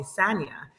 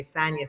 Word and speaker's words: Sanya: (both laughing) - So I go by, my whole career I've always gone by Sanya, Sanya Richards-Ross is the pronunciation. But Sanya is not wrong, and that's what my mama calls me, but I prefer Sanya.